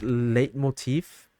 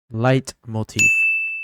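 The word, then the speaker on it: leitmotif: Nails it the music has a nice chorus late Motif is that how you say it foreign Motif light Motif got it got it and with the added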